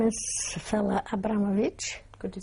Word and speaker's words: Fela Abramowicz: tell me your name please my name is Fella Abramovich could you spell that please first name Fela and the second